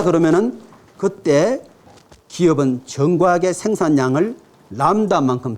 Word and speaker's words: 람다: 더 썼다 그러면은 그때 기업은 정과하게 생산량을 람다만큼 더 늘리더라. 그죠? 여기에 이제 사실 이 문제의 의도는 뭐냐면은 람다의 뜻을 설명하고 싶은 거예요.